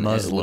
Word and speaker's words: Muslim: As for, again, there's a lot of, as the resident, how do Americans say Muslim? They don't say it with an S. They say it with an Muslim, S, with a Z, yeah.